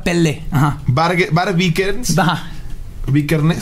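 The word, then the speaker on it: Pelle: Dead se escribe P-E-L-K, una cosa así. Dead. Se pronuncia Pele.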